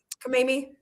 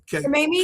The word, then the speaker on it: Khamenei: Ayatollah Khamenei? Yeah, no, K-A, how do you pronounce his name? Khamenei? K-H-A. Ayatollah? What is it? Yeah. Yeah, Khamenei?